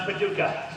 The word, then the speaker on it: Paducah: and for the record I do know it's pronounced Paducah yeah this is actually an old stomping grounds